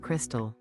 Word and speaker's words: Crextexel: The name is Crextexel, pronounced Crystal.